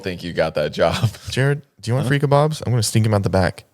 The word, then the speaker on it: Jared: like you do know my name is Jared right with a d because she always pronounces it like Jarrett like with a t and she's like yeah